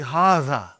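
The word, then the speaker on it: هذا: See, it is pronounced like haza. But this alif is not written. It is explained in the key also. So it is haza.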